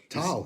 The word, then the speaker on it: Tal: Renkas, is it Tal? How you say I pronounce it? Tal, yeah, Tal, yeah.